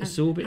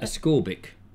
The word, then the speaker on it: ascorbic: here of exorbic acid a school is it absorbit how do you pronounce that ascorbic yeah yeah some of them as